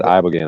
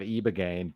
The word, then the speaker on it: Ibogaine: It's spelled with an I, but I've heard E, but who knows?